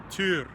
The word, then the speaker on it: Týr: quite a bit is T to use the Old Norse reconstructive pronunciation of his name for more about that